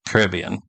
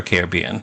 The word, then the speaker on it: Caribbean: a garbage barge on the ocean in the Caribbean, or Caribbean, depending on how you prefer to pronounce it.